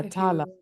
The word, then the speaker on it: Tala: Oh, yes, we can, Tala. Taylor, how do you say your name, friend? Yeah, Tala. You said it right the first.